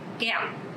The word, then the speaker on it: kẹo: Okay, so this word have the tone mark dấu nặng. Because of that, you have to pronounce very strong. Kẹo.